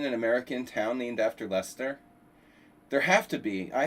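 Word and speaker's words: Leicester: I mean, Lyster. No, no, no. It was in No, he lives in Lester.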